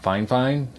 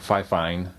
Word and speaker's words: Fifine: They say it's pronounced Fifine. Looks like Fifine to me, but they sent me